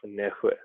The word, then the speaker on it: Nässjö: So I'm playing for a Nässjö Basket. Is really I don't know how they get that. It's spelled Nassjo, but it's pronounced Nässjö.